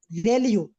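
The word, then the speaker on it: ReLU: तो फिर वो जो सिग्मॉइड है ना उसको हटा के आज के दौर में हम ज्यादा रिलाय करते हैं रेल्यू या रीलू, रेल्यू इस तरह प्रोनाउंस किया जाता है।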